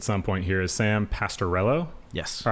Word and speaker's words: Pastorello: joining us at some point here is sam pastorello yes all right cool i'm glad that i pronounced it right um before we really dive